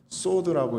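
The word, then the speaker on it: סוד: 굉 독하고 흥운 인데요 원어로는 소드라고 읽습니다 이게 개인적으로 비밀스럽게 나누는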